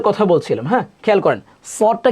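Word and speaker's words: ص: সদটা কিভাবে উচ্চারণ করব? সদ এভাবে খেয়াল করেন। সদ। আবার আমার সাথে বলেন। সদ এভাবে না। অনেকে এভাবে বলি। সদ দয়া জয়া আইন গাইন। এগুলা একদমই ভুল উচ্চারণ।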